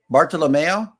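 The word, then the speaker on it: Bartolomeo: he was a painter baral lomeo yes okay lomeo because it rhymes with Romeo Romeo banana Rome it's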